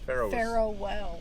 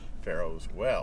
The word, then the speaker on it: Pharaoh Well: And Pharaoh Well. Pharaohs Well. No, Pharaoh, not an S.